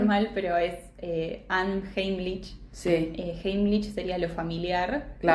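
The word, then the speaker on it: Unheimlich: Es una palabra en alemán que seguramente la voy a pronunciar mal, pero es Anheimlich.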